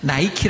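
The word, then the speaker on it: Nike: 영어식으로 읽으면 어떻게 했냐면 니케 는 나이키 라고 읽어야 나이키 그래 신발 그 브랜드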